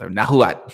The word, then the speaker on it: Nahuatl: Nahuatl, it's pronounced. You don't pronounce the L. It's Nahuatl, something like that.